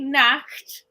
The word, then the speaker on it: Nacht: But if you say Nacht, then that's night. You've got to really pronounce it for the difference. One is naked and one's night.